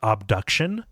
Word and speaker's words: Obduction: ago um they kickstarted a game called obduction as distinct from abduction um it's spell it's spelled with an O um and it looks